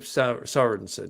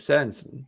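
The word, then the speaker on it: Sørensen: me it comes out do i say jacob sorensen well no not anymore because that's right so i call him jacob sanson so i call alec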